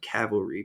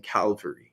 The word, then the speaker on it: cavalry: circulating the internet about the mispronunciation of cavalry people saying calvary which i understand why